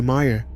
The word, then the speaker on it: Mayer: The name has always been spelled with an A, even if it sounds like an E when spoken aloud.